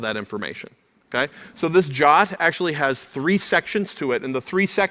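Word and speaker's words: JWT: JSON web token a jot you call it jot for short they even put that in the spec pronounced quote Jo T close quote so the jot is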